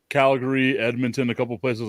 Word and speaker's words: Calgary: Canada and then I found out it's not pronounced Calgary it's Calgary yeah well I Canada well well so I